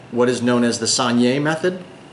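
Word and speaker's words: saignée: it's made in what is known as the sanier method not to be confused with Sanjay Gupta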